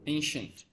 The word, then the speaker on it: ancient: Ancient. Ancient. Ancient. This is a sh. Ancient. Yeah. This is a sh sound. Shush. Ancient. Ancient. You should say it like ancient.